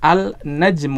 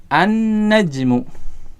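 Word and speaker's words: النجم: ya lainnya tidak dibaca kita tidak membaca al-najm Uh tidak salah kalau kita membacanya dengan Al najmu tetapi bacanya gimana an najmu ya jadi disini penulis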